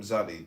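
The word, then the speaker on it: Tsadi: This paragraph of the meditation is merely the development, letter by letter, of some of the implicits of the letter name Zadi, TZDI.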